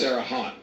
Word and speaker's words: Terre Haute: It's not anywhere close to the original French pronunciation. What did I say? That's That's Terre Haute. Terre Haute. Terre Haute. I said it Tom Brokaw. Okay. It's a very strange pronunciation for that kind of spelling, but believe me, in